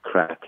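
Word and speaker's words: craic: that it was good crack. And they all looked askance at me, thinking I was talking about cocaine. This word crack, spelled C-R-A-I-C, but pronounced crack, is common parlance in Ireland.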